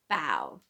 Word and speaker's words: Bao: But the Americanized pronunciation is usually Bao. And it says Bao like bow, not like bow, like the kitty's wearing a bow around her neck or in her hair.